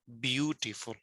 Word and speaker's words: beautiful: Sometimes we give stress on one syllable and more than other. For example, beautiful. So we are giving stress at the start part, beautiful.